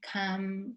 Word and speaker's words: come: To come, came, come. Careful with the pronunciation of that. That O is a, as well as when you say done, I've done it. You don't say done, you say done.